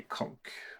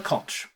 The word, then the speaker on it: conch: So, I've got a conch. Or a conch. Both correct pronunciations, by the way, in case you wanted. Conch or conch. I suppose an American is more likely to say conch and a British person